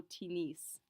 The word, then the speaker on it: tennis: tinis in this case we do actually pronounce that s at the end of t nice simply because it's a borrowed word uh they imported it from english and so it doesn't necessarily follow the exact same rules as most of our normal french words so we do say je o tinis to play basketball is